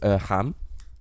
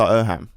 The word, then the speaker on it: Irham: I love he just went Irham and you went Irham. Now, to be fair, yeah, cool. like the I think the original pronunciation would be Irham.